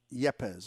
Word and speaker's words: Yepez: in it i say i say yapaz yepez okay thank you i'll do better with that